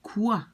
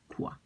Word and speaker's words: quoi: The OI in French is pronounced like wa.